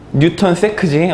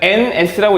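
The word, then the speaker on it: N·s: 이거 뭐라고 읽어? 뭐라고 했지? 뉴턴 세크지. NS라고 하면 NS면 윤지잖아. 비운의 아이돌이지. 자, 그러니까 그 NS라고 읽으면 안 돼, 그치?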